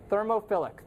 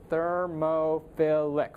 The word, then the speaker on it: thermophilic: bacteria let's see here thermophilic thermophilic four syllables heat loving oh I